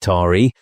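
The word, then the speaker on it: Taë: The child, whose name was Tay, pronounced Tari, was the magistrate's eldest son.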